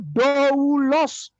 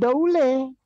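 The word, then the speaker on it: δοῦλος: pelayan wanita, fem, dari doulos, budak, hamba, yang mungkin merupakan kata asal pra-Yunani. Syukran Ustaz, syukran Ustaz Dani. Pemirsa perhatikan. Kata untuk budak atau hamba atau abdi itu doulos, bukan daule, bukan daula.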